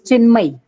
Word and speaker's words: Chinmay: Am I correct, Chinmay? If name pronunciation is correct, na? Sir, it's Chinmay.